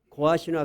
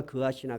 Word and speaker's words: 고핫: 게르손, 고핫, 무라리 이렇게 셋이가 있었는데 고핫을 지금 여호수아에서는 그핫이라고 적었는데 이름이 발음이 두 개로 되는 모양이에요. 고핫이나 그핫이나 같은 말이야.